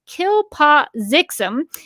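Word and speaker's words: Kltpzyxm: Superman pronounces the backwards pronunciation as Kilpazixum and later as Mxyzptlk, which he doesn't intend to do until he's having fun at the carnival.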